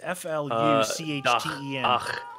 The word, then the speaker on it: Verfluchten: How is the CH pronounced in German? It's F-L-U-C-H-T-E-N. Fluchten. Well, you have to have there's a cold. There's two dialects. It's like nicht or nicht. They either go or sh.